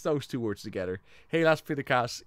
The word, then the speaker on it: helaas pindakaas: Helaas pindakaas, it rhymes.